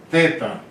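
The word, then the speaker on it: θ: Teta. Teta. Teta aqui é tipo TH.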